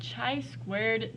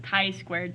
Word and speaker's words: chi-squared: and today we are going to talk about chai squared tests or chi-squared test is how they're actually pronounced but you'll hear me mispronouncing it probably